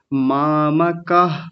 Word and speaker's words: मामकाः: तो अंशुमन जी, आपकी एक छोटी सी गलती थी, जिसमें आपने यहाँ विसर्ग नहीं बोला था। मामकाः पांडवाश्चैव, तो विसर्ग बोलना था, ठीक है?